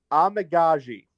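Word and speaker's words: Amegadjie: It looks like the correct pronunciation, this is according to The Athletic, is Karan Amagaji.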